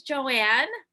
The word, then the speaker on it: Johan: want to introduce myself my name is joanne the h is silent in my name i am born